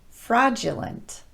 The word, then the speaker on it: fraudulent: Today, I want to address those words where the letter D is pronounced just like the letter J.